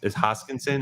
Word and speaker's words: Hoskinson: um I I do like uh Charles Hodgkin's hoskinson is that I pronounced that correctly yeah I do like him